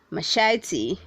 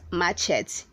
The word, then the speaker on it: machete: hundred sexton says machete machete say machete not matches we have three syllables in this world where 261 says messiah